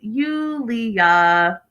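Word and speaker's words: Юлия: Brandon and Julia, which is pronounced in Russian, we learned from this episode, Yulia.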